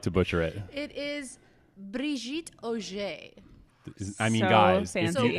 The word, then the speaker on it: Brigitte Oger: Can we get the full pronunciation of your name? Because I like to butcher it. It is Brigitte Oger.